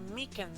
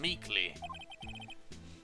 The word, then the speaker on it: Meekins: Actually, Officer Meekins at the detention center told us. Release me! Oh, that poor little doggy. Poor guy. I keep getting his name wrong and calling him Meekly.